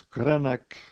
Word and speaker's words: Greenock: That was about a day and a half out of Scotland, landed in Greenock, which the Scots pronounce Greenock, and disembarked.